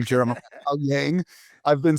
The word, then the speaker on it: Owyang: Jeremiah, thank you for properly pronouncing your last name, Jeremiah Yang.